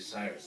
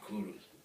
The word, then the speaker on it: Cyrus: And number two, his name was not actually Cyrus, that's English pronunciation. In his own language, his name would be Kuru, which of course is a very famous name for kings, Kuru.